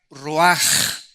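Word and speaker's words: רוח: Esta palabra vientos es la palabra hebrea roach, que se pronuncia roaj. La ch en el hebreo se pronuncia como J.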